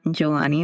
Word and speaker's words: Johanny: Until next time, I am Johanny, the H is silent, reminding you to listen with an open heart and let go of the past to embrace the present.